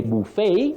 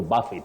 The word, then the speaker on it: buffet: then your second word you say buet when you're talking about a meal buet but as a verb you can say to Buffet Judith Mani Judith Mani